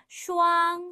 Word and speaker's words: 双: 와 있는 명사는 슈앙이에요 슈앙 쌍 우리말도 어 발음이 비슷하지요 쌍을 이루는 물건을 셀